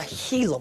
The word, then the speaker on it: Gila: like who you ask different people pronounce like gila monster differently i usually just go with gila some people pronounce a gila monster you could be a monster a healer monster or a beast whichever